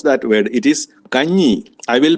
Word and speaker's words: കഞ്ഞി: It is kanji. I will pronounce it 3 times.